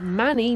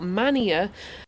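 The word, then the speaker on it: Manea: it to the station I now know to be pronounced as Manny not Mania so yes at this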